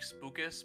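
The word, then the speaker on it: Spucas: Should call him like Spookus, but it's spelled like Lucas. Oh.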